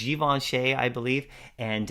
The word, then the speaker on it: Givenchy: I was always mispronouncing it. But it's Givenchy, I believe.